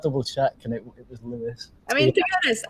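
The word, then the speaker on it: Lewes: to google how to pronounce lewis did you pronounce it lose yeah yeah a lot of people do i thought double check and it was lewis i mean to be honest i didn't know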